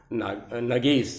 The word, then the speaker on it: नगेश: और दूसरे हमारे जो मित्र हैं जिनका नाम है नगेश सिंह चौहान जी। सही है, आई am right? नगेश, spelling क्या है?